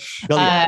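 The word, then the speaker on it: Bélier: And I'm sure I pronounced it wrong. Yeah, it's okay. I do. Belier.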